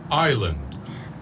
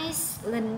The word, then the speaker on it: island: cô chú ý là chữ sờ này không được phát âm nha. À, các bạn sẽ không được phát âm là Iceland đâu, mà chúng ta có chữ âm sờ là âm câm, vậy nên chúng ta chỉ có island.